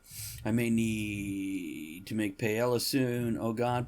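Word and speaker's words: paella: may need to make Pella soon oh God p is one of the he just think I think he is isn't it pronounced paa probably mhm but not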